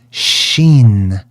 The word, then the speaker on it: Sin: They called that Sin. In the ancient language, sometimes they would pronounce it with a sh sound. So they would say Sheen, which is why they